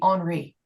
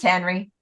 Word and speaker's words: Henri: His name is spelled Henri, like it should be Henri, And he's like, no, it's just Henry.